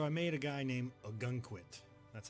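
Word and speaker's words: Ogunquit: of Maine so I made a guy named a gun quit that's how you pronounce that it's a town here in Maine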